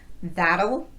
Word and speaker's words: that'll: two things going on there's a slight vowel before the L and the t is tapped so it's going to sound more like a light quick D sound let's look at those